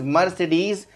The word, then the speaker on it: Mercedes: is mercedes mercedes the correct pronunciation is mercedes and next german company jokey hitler founded have